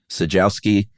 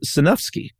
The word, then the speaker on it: Sejnowski: And he said the following: the N is not silent. The J is like an H and the W is like an F. So then he phonetically spelled it out as Sanufsky. Oh, wow. There ain't no F in this thing, but it's Matt Sanufsky.